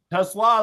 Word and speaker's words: TeSlaa: And do you have the correct pronunciation to Slaw? Tesla is what I heard.